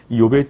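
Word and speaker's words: אִיּוֹב: 우선 명칭을 보시면 첫째, 히브리어로는 이욥이라고 이렇게 우리가 발음을 합니다.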